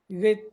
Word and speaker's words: Goethe: Algo así, no sé cómo se pronuncia, así como la cuisine que te decía yo la otra vez. Goethe, Goethe, sí, Goethe.